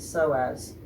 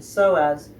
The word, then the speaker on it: psoas: we talked about the psoas so psoas is spelled first with a p p s o a s these psoas muscles that